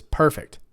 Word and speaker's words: perfect: perfect that movie was perfect okay let's try it on the second syllable that's the verb right perfect that means to practice